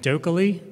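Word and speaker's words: dokieli: And Dokkaly, which is apparently how you're supposed to pronounce that, like Oakley Dokkaly, does linked research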